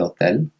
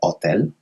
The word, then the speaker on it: hotel: With hotel, it's a silent H. So we never pronounce the H in Spanish, which is why it's LE.